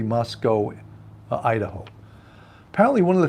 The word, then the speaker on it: Moscow: life for saying Moscow it's not pronounced with the w it's pronounced like Moscow